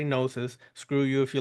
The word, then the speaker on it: gnosis: email me at Sith nosis nasis how you want to pronounce it I say nosis screw you if you